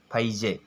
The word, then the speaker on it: फैजे: था, उसका नाम था फैजे। क्या नाम था? फैजे इसका नाम था। ठीक है, शुद्ध उच्चारण करना है तो फैजे बोलेंगे और वैसे आप फेजे भी इसको कह सकते हैं।